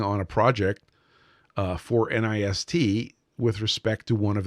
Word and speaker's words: NIST: So Firmian says it's Ni S pronounced like pissed. NIST, of course, but they're not pissed.